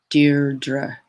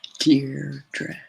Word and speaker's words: Deirdre: My modeling name is Deirdre, and people misspell it and mispronounce it constantly. Deirdre. It's not hard. Deirdre.